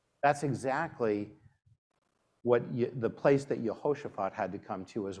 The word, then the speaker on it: Jehoshaphat: Now, you'll hear me saying Jehoshaphat, not Jehoshaphat. I like to pronounce names as much as possible with the Hebrew pronunciation. So there you have it for the many Hebrew students that we have in the room here today. Jehoshaphat, one of the very